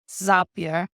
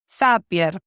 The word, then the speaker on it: Zapier: I think they say Zapier. But I pronounce it in a Latin American way. Zapier. Okay. Many people in the UK pronounce it Zapier, but that's another story.